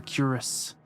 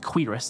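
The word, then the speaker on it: cuirass: For curus. I've I've learned this is actually pronounced quirus and I hate that.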